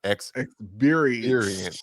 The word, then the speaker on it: ExBeerience: ExBeerience.